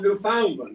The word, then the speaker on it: Newfoundland: No, we don't say it that way. We say it rhymes with understand. So you understand. He didn't really get that. So I said, well, what you need to remember is that the emphasis is never on the second syllable.